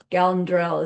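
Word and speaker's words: འགལ་འབྲེལ: The topic's called Gelndrel. This N, the prenasal, is this apostrophe when it comes before a DR. So Gelndrel is how it's said.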